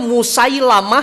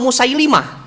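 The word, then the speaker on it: مسيلمة: seorang nabi palsu namanya Musailamah Al Kadzab nanti yang benar itu Musailamah atau musailimah Musailamah atau musailimah dari sisi riwayat ada dua cara baca ada Musa lama ada Musa liim G tuh itu ya jadi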